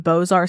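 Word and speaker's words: Beaux-Arts: you to know that that's spelled bow Arts so I I looked at no less than three ources to verify how it was pronounced because I was like what but so it's boar Style with Renaissance Revival touches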